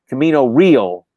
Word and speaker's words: Camino Real: Camino Real was Camino Real. Okay. Rating anglicized pronunciation.